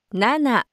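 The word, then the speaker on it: なな: 1, 이치, 2, 니, 3, 상, 4, 영, 5, 고, 6, 로크, 7, 나나, 8, 하치, 9, 큐. 입니다. 여기서 주의해야 될 점은 만단위까지의 숫자를 셀 때는 4는 용으로, 7은 나나로 발음한다는 것입니다.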